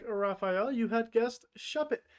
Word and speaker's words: Shuppet: And if you were like Raphael, you had guessed Shuppet. Shuppet rhymes with puppet.